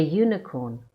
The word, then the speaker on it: unicorn: A unicorn. The U is pronounced fully as U.